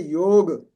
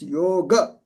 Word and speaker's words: yoga: Hindi and in Gujarati in Hindi we say yog it's not we cannot say yog it's yoga yoga we have to pronounce You last that sound very very correctly.